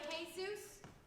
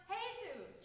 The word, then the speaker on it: Jesus: Manolo and Jesus? You don't pronounce the J.